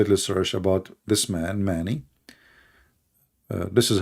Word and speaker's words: Mani: And if you want, you can go and do a little search about this man, Mani. This is how you pronounce his name.